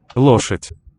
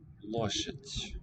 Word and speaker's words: лошадь: Лошадь. Лошадь. Лошадь. Лошадь. With the final soft marker raising the weak final vowel before.